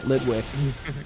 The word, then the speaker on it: Litwick: it's a baby Litwick lit lit I don't know why I'm pronouncing it like that Litwick cool yeah um yeah but I